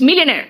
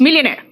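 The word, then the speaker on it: millionaire: ठीक है इट्स मिलिनेयर और आर लास्ट का मैंने क्या कहा था लास्ट में आर आता तो थोड़ा साइलेंट हो जाता है है ना थोड़ा सा वो सॉफ्ट हो जाता है इट्स मिलिनेयर ओकेज ओकेज का मतलब बेटा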